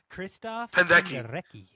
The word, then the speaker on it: Krzysztof Penderecki: While listening to Krzysztof Penderecki, is that how you say it? Yes. Krzysztof Penderecki.